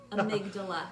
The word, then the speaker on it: amygdala: Amygdala.